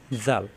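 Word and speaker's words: ذ: দাল দাল দাল, উপরে একটি নক্তা আসলে জাল, নক্তা ছাড়া দাল, উপরে নক্তা আসলে জাল, জাল নরম করে উচ্চারণ, জিহ্বার আগা উপরে দাঁতের আগায় লাগিয়ে, জাল জাল।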